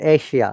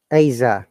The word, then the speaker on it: Asia: measure okay then remember this is very common wrong pronunciation everyone's in asia no it's asia asia it sounds like this eh hey aza all right asa similarly visa visa asa from today don't say asia anymore asa visa air says